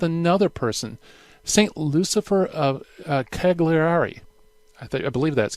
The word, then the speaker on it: Cagliari: Lucifer of Cagliari I think I believe that's Cagliari I believe that's how you pronounce it the Bishop of